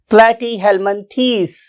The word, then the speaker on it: Platyhelminthes: मैंने वर्ड बोले हैं यह आप लोगों को स्पेलिंग याद करवाने के लिए बोले प्लेटी हेल मिनस ना व्ट इ ट ू प्रोनंसिएशन प्लेटी हेलमन these it true pronunciation for this phylum प्लेटी थस